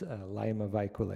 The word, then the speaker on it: Laima Vaikule: be a special guest Liam how do you pronounce her last name it's laima vaikule a bike and also commissioner adoption will be